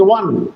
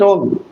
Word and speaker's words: won: The pronunciation is won, not on.